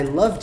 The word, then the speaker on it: loved: A pronúncia é como se esse E nem tivesse aqui. Loved, loved, loved.